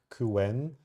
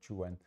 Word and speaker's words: Qwen: intrigued by these models, and I said Qwen, and the guys just said what? They didn't understand what I was talking about, so they ended up explaining how this is being pronounced in Chinese, actually.